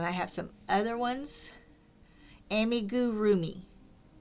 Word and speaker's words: amigurumi: Amigurumi. Amigurumi. Amigurroomi. That's it. Right. You put the emphasis on the rue.